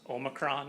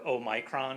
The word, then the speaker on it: omicron: get a letter and it's pronounced omicron in the united states or oh micron if you're in the uk that's one of the